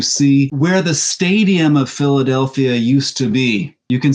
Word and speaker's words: Philadelphia: going to head to Philadelphia or I guess I should say Philadelphia to get the the the first century Greek pronunciation right this is another place